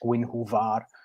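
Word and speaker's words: Gwenhwyfar: that name with Guinevere, because in the Welsh it's pronounced Gwynhwvar.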